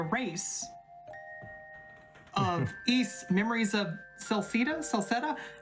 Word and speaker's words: Celceta: to be a race east memories of celceta celceta how do you say that word hey help